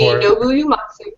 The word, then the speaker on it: Nobuo Uematsu: I got to see Nobuo Uematsu and Hironobu Sakaguchi was there. That's actually right. You pronounced them right.